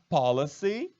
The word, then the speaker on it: policy: Policy, olha só. Policy, com Y no final, é diferente de police.